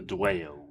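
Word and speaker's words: Dwayyo: called the rise of the dwell the dwayo and uh that's how you say it so that's good the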